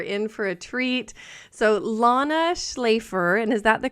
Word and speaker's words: Lana Shlafer: goodness you are in for a treat so Lana schlafer and is that the correct pronunciation I should have yes it is I